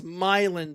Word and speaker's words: Milan: Like Milan, Tennessee is Milin, Tennessee.